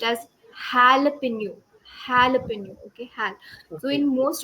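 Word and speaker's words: jalapeño: j a l a the j a is pronounced as Halo halapin okay Hal so in most of the English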